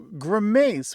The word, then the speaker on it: grimace: And Grant, I had no idea that you could pronounce it either of two ways. So grimace with the stress on the second syllable.